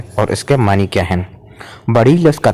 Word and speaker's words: بڑیچ: کی طرح ہوتا ہے۔ چنانچہ خان روشن خان نے اس کا تلفظ بڑیس اور بڑیچ دونوں طرح سے کیا ہے، چنانچہ اصل تلفظ اس کا بڑیچ اور بڑیس ہے۔ فارسی اور قدیم اردو